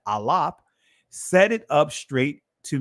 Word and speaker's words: aleph: alap the Israeli they call it the aleph but it's the alap set it up straight